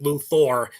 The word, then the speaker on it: Luthor: It's Luthor with an O-R. Yeah. This is why I try to pronounce it Luthor instead of Luther.